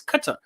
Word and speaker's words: Qatar: They pronounce it Qatar forever, but it's pronounced Qatar because actually there's no U, so you can't say Qatar. It's Qatar.